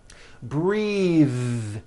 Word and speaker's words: breathe: Breathe, same thing. Breath is a noun. Take a breath, unvoiced. But when you change it into a verb, the vowel changes and it becomes breathe. I am breathing with a voiced TH.